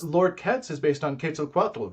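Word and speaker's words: Quetzalcoatl: consider to be foreign words but Nawa uh pronunciation of of that particular serpent God is kit Alat K kitat oh I love that yeah so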